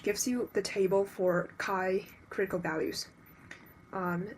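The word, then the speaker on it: χ: It looks like a x but it pronounced as kai.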